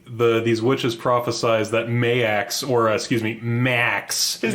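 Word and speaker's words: Maax: name is m-a-a-x and it's supposed to be pronounced mayax but I swear to God there are so many instances where they just say Max Max it's really inconsistent like every character will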